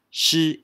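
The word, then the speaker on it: 是: grammar of this character this characters is pronounced at she is she she she the fourth tone when it's used by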